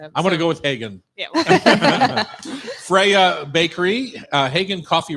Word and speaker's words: Hagen: Is it Hagen or Hagen? So we call it the way you pronounce Copenhagen. So it's like either Copenhagen, which is the Danish way, or you can say Copenhagen.